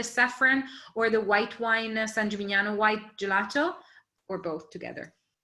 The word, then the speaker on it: San Gimignano: pens or your devices the town is called san gimignano s-a-n and then another word g-i-m-i-g-n-a-n-o san gimignano and it has this ice cream parlor on